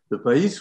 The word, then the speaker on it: PAIS: PAIS, ça s'écrit comme maïs avec un P.